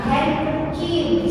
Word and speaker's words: handkerchief: Nah handkerchief bisa handkerchief.